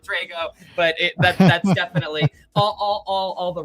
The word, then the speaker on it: Drago: Drago, Drago, and I would have said Drago even though I pronounced it Drago.